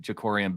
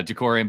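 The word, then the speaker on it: Jakorian: do wonder what a player like Maryland cornerback jakori and Bennett maybe I didn't pronounce his first name correct no you got it you nailed it uh Jacory and Bennett uh he was the next fastest at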